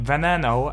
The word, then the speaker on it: Veneno: So, in this video, we're going to go over my opinion on this Lamborghini Venano as it's pronounced.